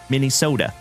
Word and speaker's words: Minnesota: And no one around here pronounces the T in sota. They say soda, Minnesota. Why, thank you, Captain Kirk.